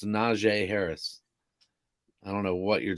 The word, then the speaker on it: Najee Harris: there yeah and ryan yex i did say najee harris's name right that's how you say it it's najee harris i don't know what you're talking about i